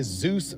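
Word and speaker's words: Dzus: it'll be mint okay this right here is a Zeus Fastener it is spelled DZ s it is a quarter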